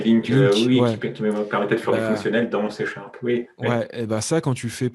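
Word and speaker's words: LINQ: en fait mes côtés de ces vidéos se prononcer linke ouais ça quand tu fais pantin tri sur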